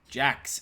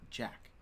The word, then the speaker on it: Jax: Congratulations, Nia Jax. Is it? I know it's pronounced Jax, but why is it pronounced Jax and not Jack? It's the X. It's the X. X makes a k sound.